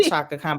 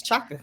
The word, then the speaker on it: Chaka: I am named after Shaka Khan but Shaka Khan it's not shakan it's Chaka it listen we learn